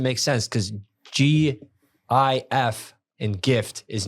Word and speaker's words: GIF: Obama himself self says it's pronounced GIF with a hard G yeah but he was